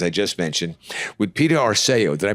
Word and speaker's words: Arceo: Today we're at the Palms Casino Resort in Las Vegas, as I just mentioned, with Peter Aro. Did I pronounce that correct?